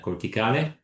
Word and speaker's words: Corticale: And for doing this, we founded in 2021 Corticale, as you correctly pronounce it. Your Italian is great. And let's say thanks to 2.5 million investment of one of the four founders of Corticale, we were capable to, let's say, perfectionate our